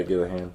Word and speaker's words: Gillihan: I pronounced that correctly, right? Yeah, Gillihan.